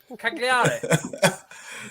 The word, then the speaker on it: Cagliari: Cagliari. Yeah. You don't pronounce the letters as you see them.